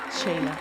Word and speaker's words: Sheyla: Oh, ¿cómo lo pronuncia? Sheila.